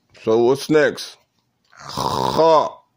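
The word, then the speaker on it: خ: Kha. That's a throat letter. Kha is a throat letter. Kha, originating. And if you don't feel your throat when you're saying the letter kha, then you're not saying it correctly.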